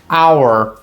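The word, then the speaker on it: hour: Então, por exemplo, our, our, ora, tem h, mas é mudo.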